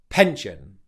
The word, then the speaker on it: pension: The mistake you don't want to make here is with the P sound. Again, you want to make sure that it's aspirated because this can really affect the sound of your speech and affect your confidence if you're not aspirating it. Okay, so pension. Pension. Stress on the first syllable and the second syllable is unstressed.